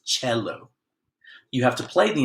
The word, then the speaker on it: cello: called the cello now it's pronounced cello because it's Italian it's not solo not Kelo its cello you have to play